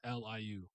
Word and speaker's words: Liu: then Marjorie um space Liu yeah they do monstrous oh it's Marjorie Lou okay yeah I heard it's